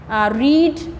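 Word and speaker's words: read: कट, पुट पुट पुट, रीड रेड रेड। इसकी pronunciation तो change हो जाती है, रीड की सेकंड फॉर्म को हम बोलते हैं रेड, थर्ड को भी रेड, बट जो इसकी स्पेलिंग दैट इज सेम।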